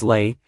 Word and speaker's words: Leigh: Childhood British actress Vivien Leigh, some pronounced her name as Leigh, and both are phonetically correct, won the Academy Award